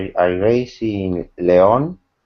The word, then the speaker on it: León: The name I raised in León. It's a Spanish city. León is spelled Leon in Spain.